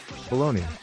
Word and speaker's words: bologna: dedicated to the famous lunch meat known as baloney a type of sausage that's particularly popular in the United States especially in sandwiches baloney pronounced balone in American English is similar to the